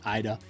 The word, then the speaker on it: Ida: You're going to hear some people say Ida. It is Ida.